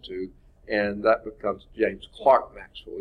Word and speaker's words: Clerk: and that becomes James Clark Maxwell even though they spell it with an E is pronounced as if